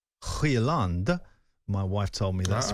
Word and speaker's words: Højlund: And what I mean by that is, if you've got a centre-forward who's a young player like Højlund, my wife told me that's the pronunciation, she's Swedish.